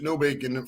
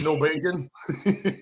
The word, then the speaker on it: Nobacon: interviews with you i i was pronouncing your name the last part of your name nobacon for like an hour and i was like wait a minute is that no bacon no bacon yeah yeah no now the internet